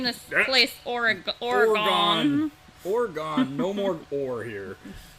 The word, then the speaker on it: Oregon: And it's Oregon. Oregon, not Oregon.